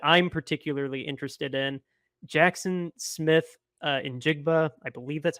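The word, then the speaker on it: Smith-Njigba: One that I'm particularly interested in, Jackson Smith in Jigba. I believe that's how you pronounce his last name.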